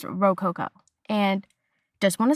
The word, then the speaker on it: Rococo: I did look up how to pronounce it and it is Rook Coco. I think this whole season I was pronouncing it Roku, but it's Roco.